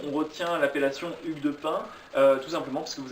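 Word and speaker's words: Payns: Alors Pin, ça s'écrit P-A-Y-N-S, hein, mais ça se Alors prononce c'est bien. Hugues de Pin, Hugues de Payen, Voilà.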